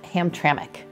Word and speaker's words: Hamtramck: brought us to Hamtramck spelled ham but it's pronounced Hamtramck yeah and it's not actually a neighborhood no